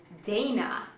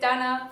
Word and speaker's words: Donna: gonna say her name Dana and get, extra brownie points. And then I had to correct them too that no, I really promise my name is Donna, pronounced the European way.